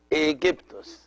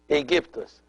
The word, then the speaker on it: Aegyptus: the year 332 BC, they could not pronounce this word as the Egyptians used to pronounce it, and they pronounce it in a Greek accent, so they pronounce it Aegyptus. Aegyptus. They changed the K into G, and they added at the end of the word the OS, which is the Greek ending of the names.